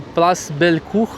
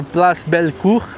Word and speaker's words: Place Bellecour: Aqui eu tô falando da PL Belcur, apesar da pronúncia meio lá, ele Bia já tá até rindo aqui, mas é Place Belcur.